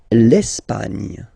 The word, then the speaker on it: Espagne: L'Espagne. L'Espagne. Okay, don't insist on the final E because basically it's not pronounced.